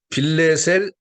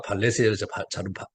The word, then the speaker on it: 디글랏 빌레셀: 디글랏 빌레셀, 아까 발레셀 발음을 잘못했네요.